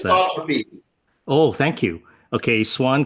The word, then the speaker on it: anisotropy: So there's a swan, solar wind anisotropes. I don't even know how to pronounce that. Anisotropy.